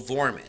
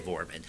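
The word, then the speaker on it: Dvorman: the name of Joel Vorman, or D-V-O-R-M-A-N, however you pronounce it, sorry. I'll say Vorman.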